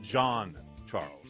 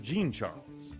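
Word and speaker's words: Jean-Charles: and on their website, it says it's pronounced John Charles. However, when Shamar was drafted, he legit says into the video, hey guys, it's Shamar Jean Charles. That's the man saying his own name.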